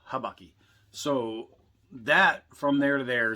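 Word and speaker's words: habaki: and that is called your uh habakki so i'm not hibachi it's not where you're getting your food this is the habakki so that from there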